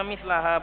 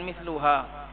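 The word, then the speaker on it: مثلها: Yang benar bacanya mislaha bukan misluha. Apa i'rabnya?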